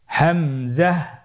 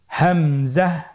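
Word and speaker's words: همزة: উচ্চারণ করতে হবে এবং এখানে টেনে পড়া যাবে না দ্রুত পড়তে হবে আপনারা আমার সাথে বলুন হামজা জাহ হামজাহ হামজা হরফটি উচ্চারণের স্থান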